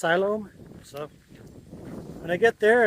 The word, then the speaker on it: Siloam: to silom Springs I was always calling it Siloam Springs but a couple of people have uh told me it's pronounced silom so when I get there and ask I'll